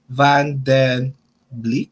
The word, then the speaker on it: Van den Bleek: Michelle van den Bleek. Is that how you say it? Yeah, Van den Bleek.